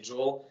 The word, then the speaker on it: Joël: Joel, donc son nom c'est Joël, mais en anglais prononcé Joel, m'avait dit c'est très important de ne pas tomber en amour avec le résultat, mais avec le processus.